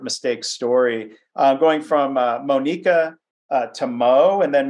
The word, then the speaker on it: Monica: um as you said my name is Monica but it's spelled like Monica m-o-n-i-c-a I prefer the pronunciation Monica that was my mom's intention and so that's first kind